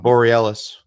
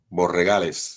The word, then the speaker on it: Borregales: I always get his name wrong. Borealis. Okay. Borregales.